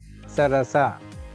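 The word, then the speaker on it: ಸರಸ: Saras Sarasa. Sarasa. Sarasa. So time taken for sa all are equal. Sarasa. Sarasa. Sarasa. Not sa. No it is sarasa.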